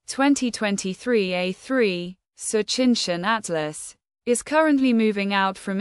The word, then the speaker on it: Tsuchinshan-ATLAS: Comet Tsuchinshan-ATLAS, pronounced Choo-cheen-shahn At-less, is near naked eye visibility and easily picked up by long exposure cameras.